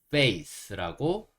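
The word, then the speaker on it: face: 얼굴은 영어로 어떻게 얘기하냐면 f a c e 페이스라고 읽을 수 있습니다 어 FA L 페이이 이렇게 읽고요 C이 부분을 스 이렇게 읽는 거예요 그래서 페이스 페이스라고 할 수 있는데 주의해 실점은 F 소리 페이스 아니고요 페이스 다시 한번 비교해 드릴게요 페이스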